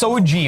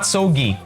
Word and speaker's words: SOGIE: being here and uh it's pronounced soji okay not sogi gender so soji by